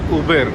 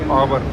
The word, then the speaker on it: Auber: This is Uber, not Auber. I was pronouncing it as Auber.